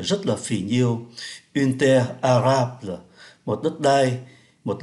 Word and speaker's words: arable: Và chúng ta để ý ở đây có ký tự L và phát âm là une terre arable thay vì une terre.